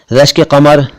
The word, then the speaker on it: रश्के कमर: रश्के कमर का सही उच्चारण है रश्के कमर, कमर नहीं, कमर कुछ और होता है। यह है कमर।